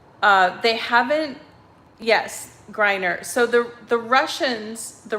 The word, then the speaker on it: Griner: um brittany uh am i saying it right griner oh is that right griner brittany griner yes i didn't know about this story guys um but jesus said uh they haven't yes griner so the the russians the russian government has